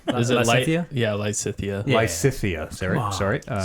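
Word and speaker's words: Lysithea: Did I mispronounce that? It's fine. Lysithia? Close enough. How is it said? Is it Lysithia? Yeah, Lysithia.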